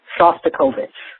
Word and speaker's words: Shostakovich: today's uh download and the pronunciation of the of the composer is Dimitri Shostakovich Shostakovich um also I have